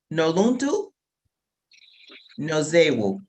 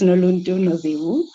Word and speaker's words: Noluntu Nozewu: Part of our Young Ambassadors South Africa program, Noluntu Nozewu. Wow, well done. That's exactly how you pronounce my name. Yeah, you got it right. It's Noluntu Nozewu.